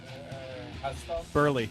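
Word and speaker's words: Buehrle: Mark Burley. Burley, right?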